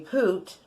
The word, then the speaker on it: pyt: wow this is cool poot PYT pronounced poot is an interjection that danes